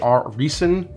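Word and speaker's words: Riesen: think it's like what r r i e s e n I think is how you pronounce it our reason I know it's a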